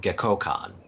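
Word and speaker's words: Gekkoukan: Gekkokan.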